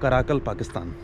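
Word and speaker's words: Karakalpakstan: Republic of कराकल पाकिस्तान, नॉट पाकिस्तान, कराकल पाकिस्तान। और जैसे पाकिस्तान की स्पेलिंग में आई आ जाता है, तो उस आई को हटाने के बाद पाकिस्तान बनता है, और यही इस एरिया का नाम है रिपब्लिक ऑफ कराकल पाकिस्तान।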